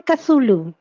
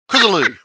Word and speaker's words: Cthulhu: Literally, when you said Cthulhu. don't do that, Eva. My tongue literally just twisted when you said stop it. You've got to pronounce the second H.